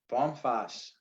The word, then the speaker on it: Vom Fass: mary f is in frank a s s bomfass yes from the barrel excellent well we are